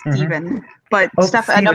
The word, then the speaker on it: Stephen: Like you look at Yeah. Stephen, it should be Stefan, but for some reason we don't pronounce it that way.